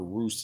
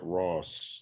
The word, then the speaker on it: Roos: And remember, Roos is spelled Roos, not Ross, not Ross.